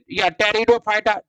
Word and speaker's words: टेरिडोफाइटा: इसे क्या कहते हैं टेरिडोफाइटा पी क्या है साइलेंट है तो टेरिडोफाइटा समुदाय पृथ्वी पर का